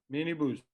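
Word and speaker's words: minibüs: like the minibus but the way you pronounce it is mini boost because of the the you with the dots yeah nibis so the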